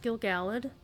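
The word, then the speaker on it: Gil-galad: Yes, it is pronounced Gilgalad. Professor Corey figured this out just by the etymology of the actual poem.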